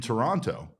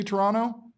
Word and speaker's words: Toronto: Uh, also another thing as we are finding out, uh, you do not pronounce the second T in Toronto.